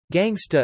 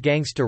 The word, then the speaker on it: gangsta: Gangsta is a non-rhotic pronunciation of the word gangster. The genre was pioneered in